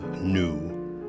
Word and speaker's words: gnu: This formidable-looking beast is a wildebeest, sometimes called a gnu with a silent G, in crossword puzzles especially.